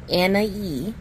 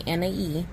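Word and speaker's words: Anahí: But one of the members, I think her name is pronounced Anhahí. Like I said, I pronounce it the best way I can, Anhahí.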